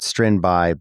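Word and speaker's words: Strindberg: Well, in Sweden they actually pronounce that Strinbai, but I think we'll stick with Strinberg.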